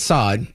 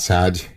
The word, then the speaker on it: Saad: So Gad Saad, I think he pronounces sad, actually. It just is S-A-A-D.